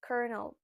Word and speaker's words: colonel: You might think that it sounds like colonel or something like this, but it's colonel actually.